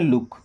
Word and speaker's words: look: LOOK, इसको हम पढ़ते हैं लुक।